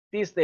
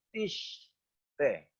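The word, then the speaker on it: תשטה: Tiste dibacanya tiste. Itu kalau kita lihat sinnya itu titiknya ada di sebelah kiri. Itu berarti S, tiste. Ya, tapi komentar Sota mengatakan ini juga bisa dibaca tishte.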